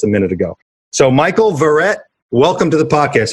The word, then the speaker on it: Verret: Okay, so Michael Verret, Verret, not Verret. He literally just told me how to say his name, and I quite all right.